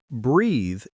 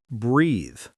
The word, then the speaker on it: breathe: The word breathe is pronounced as breathe. The sound at the end is soft, like th in this.